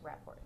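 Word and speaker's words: Wrapports: And can you pronounce for me on camera the way that you pronounce Raports? Raports.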